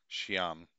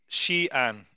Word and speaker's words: Xi'an: To a city called Xi'an. Yeah, so that's how you pronounce it, because you sent me something and I'm pretty sure that's how I was pronouncing it in my head. Xi'an. Xi'an.